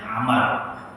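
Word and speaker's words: عمرو: khalifah dari Bani Abbasiyah bedanya adalah di huruf terakhir kalau tanpa Waru itu bacanya Umar kalau ada waktunya membacanya Amar yang ketiga namanya sama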